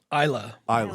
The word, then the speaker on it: Isla: Isla, sorry. Yeah. Isla Hink back there's a lot of people named Isla. I'm sure you've seen that name in celebrities. Just reading phonetically.